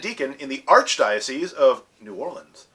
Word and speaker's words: New Orleans: he is a permanent deacon in the Archdiocese of New Orleans, also pronounced Nolans.